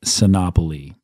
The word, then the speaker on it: Sinopoli: Sinopoli, rhymes with monopoly, Icarus Devices.